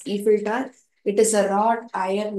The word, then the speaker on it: Eiffel Tower: Sorry, it is to be pronounced as Eiffel Tower.